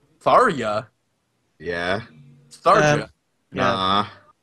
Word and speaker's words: Tharja: The JA is like a soft. Yeah. yeah, it's like it's just a silent J.